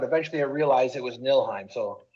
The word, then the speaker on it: Niflheim: I realized it was nilheim so it's funny there's a silent F in there but whatever it's you